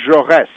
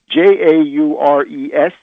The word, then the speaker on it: Jaurès: And the other assassination, which I would point to, is the assassination of Jean Jaurès, Jaures, with a little accent on the letter E.